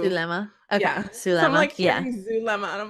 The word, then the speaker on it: Zulema: And Lori, can I just say, Zulema is a Hispanic name. It's like, I know it has a Z, but it's like pronounced Su. Zulema.